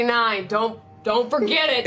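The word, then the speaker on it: Nein: But spelled like N-E-I-N, the Mighty Nine.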